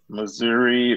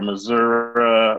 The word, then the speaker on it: Missouri: the great state of missouri or missouri or either pronunciation is fine very nice very good